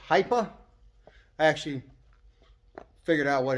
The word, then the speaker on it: HIPA: But I've been seeing a lot of ads for this brand lately, and it's pronounced HIPA.